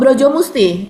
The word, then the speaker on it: Brojo Musti: Terus kemudian di sini ee ada lagi misalnya namanya ini Mas Hersu Broj Musti atau Braja Braja Musti mungkin ya bacanya. Oh brojo musti pakai O.